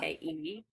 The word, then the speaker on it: Funke: So Inkheart by Cornelia Funk or Funky. I don't know how you say it. It's Oh, yeah. Funke.